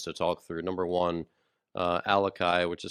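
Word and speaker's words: Alaka'i: Number one, Alakai, which is spelled ALAKA apostrophe I.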